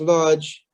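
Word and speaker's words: Łódź: of where they came from yes lodg is pronounced large and it's a ghetto in poland um most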